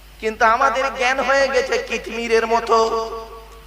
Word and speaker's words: কিতমির: কিন্তু আমাদের জ্ঞান হয়ে গেছে কিতমিরের মতো। কি বললাম? কি বললাম? কিতমির। কি বললাম বলুন? কিতমির বলুন, উচ্চারণটা করুন। কিতমির। কয় হস্যই ত মো ময় দীর্ঘই র।